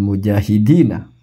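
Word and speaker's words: مجاهدين: Allahumma ja'alna minal mujahidina. Pakai H ya, mujahidin gitu.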